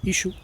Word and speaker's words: Yeshua: Yeshua es una contracción. También se le pronunciaba Ishu en arameo, o Isho, según expertos lingüistas en arameo.